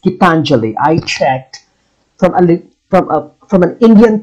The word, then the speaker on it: Gitanjali: It's pronounced Gitanjali.